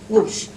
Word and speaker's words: Gouges: Esta es Olimpia de Gouges, o de Gouges, ¿vos cómo lo pronuncias? Gouges.